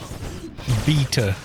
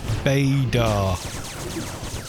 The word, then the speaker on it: beta: call it a router we also say um beta not badar this is how we pronounce the we follow the convention that it's